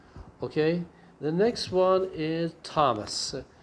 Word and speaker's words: Thomas: next one is thomas remember it is a t-h but the pronunciation is not the way that you say it like iraq is okay it is thomas okay so if it is something like this it is okay but if you actually have something like this it is right wrong okay so the pronunciation of thomas is th like ta okay not not not like not like that okay if you have